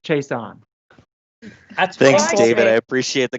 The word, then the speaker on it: Chaisson: for you all's reference it's k levon as in three syllables starts with a k so k levon chase on thanks david i appreciate